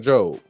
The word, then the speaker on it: Job: Real quick, Job, Book of Job, which is spelled like job.